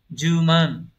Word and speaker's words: 充満: Câu 29 chữ Hán là chữ sung và chữ mãn, từ này đọc là juman, nghe như 10 man đấy đúng không?